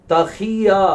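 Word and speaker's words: תחיה: இந்த 4 எழுத்தி நீங்க சேர்த்து உச்சரிச்சீங்கன்னா இதுதான் தஹியா அப்படின்னு சொல்லுவாங்க.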